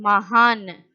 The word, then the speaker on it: महान: Children, I told you no, in a word, in the last letter, if it is not having matras, we will read as half letter. Half pronunciation only we will give.